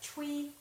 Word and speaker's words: tuile: I think the French have a term for it, tuile. They spell it T-U-I-L-E. I know that's crazy.